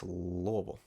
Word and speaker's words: Louisville: going to Louisville Louisville say it like you got some marbles up in your jaw Louisville not Louisville not Louisville not I mean it's loable so I'll be there